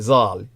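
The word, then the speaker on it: ז״ל: The correct way to pronounce the abbreviation in either case being Zal.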